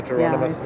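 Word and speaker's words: Jerónimos: that I've ever come across, which is the Geronimus Monastery is the right pronunciation.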